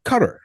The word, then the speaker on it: Qatar: you have been going back and forth to Qatar, or as you know, some people have corrected me before and said, uh, Qatar. That's how they pronounce it, Qatar.